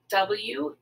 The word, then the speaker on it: were: were when we write w-e-r-e the e-r-e works together and says one sound er let's practice it a